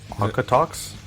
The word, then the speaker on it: Okotoks: Okotoks. Is that a real word? I'm assuming. It sounds made up. Well, it's Canadian. Calgary. Their current location is Okotoks, Calgary. Is that how you say it? Okotoks? Okotoks? Okotoks? That's as far as I can tell, dude. Where do you got unnamed source? Takanops? Oko. It's OKO. Here.